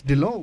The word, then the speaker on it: Dhillon: And we just had a bit of a side chat about how her last name gets pronounced. It's Dhillon.